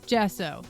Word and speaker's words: gesso: Gesso. Thank you. I'm like, I'm pretty sure it's gesso.